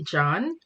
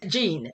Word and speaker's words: Jean: our overall cultural competency her last name is spelt j-e-a-n and just seeing that word it makes me go to gene right and then what